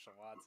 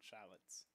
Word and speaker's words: shallot: The wackest thing I just learned is that it's pronounced shallots and not shallots. Is it not shallot? Apparently. It's one of those like it's French.